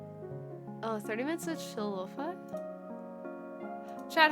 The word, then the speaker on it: lo-fi: It's like, do I pronounce it loaf or lo-fi? Okay. Yeah, I'm genuinely always curious. Lo-fi rhymes with pie.